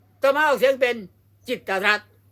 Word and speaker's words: กิตติ์รัฐ: นี้ แล้ว ไป อ่าน จิตรัตน์ ได้ ยัง ไง อย่าง งี้ อ่าน ได้ คำ เดียว ว่า จิต รั จิต รั จิต รั จิต รั ก็ ต้อง อ่าน ว่า จิต รัต เท่า นั้น ไม่ ใช่ จิตติรัตน์ ไม่ ใช่ จิตต รัต